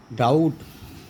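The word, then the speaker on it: doubt: और टी के पहले अगर बी आए तो इसको बोलते हैं डेट, डाउट, हनी कॉम।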